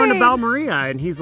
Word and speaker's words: Balmorhea: Balmorhea. Balmorhea State Park. here on the screen, because if you're like me, you see that spelling and you're like, "Oh, it's Balmorhea, like diarrhea."